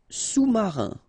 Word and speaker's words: sous-marin: Sous-marin. Okay, so E-N here. Un, rein, marin. Alright, and remember, sous, okay, final S not pronounced, so S-O-U, sous, sous-marin.